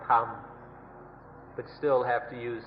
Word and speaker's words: ธรรม: The Thais just pronounce it in their own way, Dhamma or Tham, but still have to use this old Indian word.